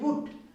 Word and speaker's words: boot: BOOT, बूट। अब बूट लिखेंगे कैसे? अब इसमें उच्चारण जो है, कौन सा उच्चारण आ रहा है? BOOT, बूट। डबल ओ यानी ऊ का उच्चारण।